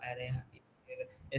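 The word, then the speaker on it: array: एरे एरे sting, इस तरह से वो लोग मतलब बोलते थे। लेकिन ब्रिटिश प्रोनाउंसिएशन में एरे ही बोल रहा है, वो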